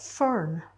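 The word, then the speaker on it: Ffwrn: go there um and we've got fern which is spelt double f rwn which over the last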